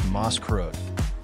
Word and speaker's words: Maßkrug: The iconic beer glass used at Oktoberfest is known as the Maßkrug, pronounced Maßkrug, which translates to measure mug in English.